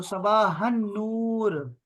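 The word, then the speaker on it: صباح النور: वो है सबा हन ये हन हो जाएगा हन यह लाम साइलेंट है यहां पर नूर से पहले लाम साइलेंट है तो सबा हन नूर ठीक है जी इसी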